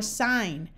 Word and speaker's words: sign: and an N together the G is often silent like in Gnome or na or sign however if you start